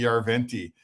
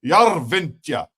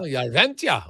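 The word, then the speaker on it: Järventie: It's not just Robbie Yarventi. It's like Robbie Yarventia. Oh, Yarventia. Okay, I like that.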